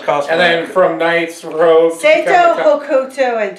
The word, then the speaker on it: Rogue: Rogue, not Rouge. It's Rogue. still spelled the same. No, it's not. No, it's not. R-O-U-G-E is Rouge. Well, R-O-G-E.